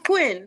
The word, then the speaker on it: Quinn: You said it right. It's Quinn, like Harley Quinn.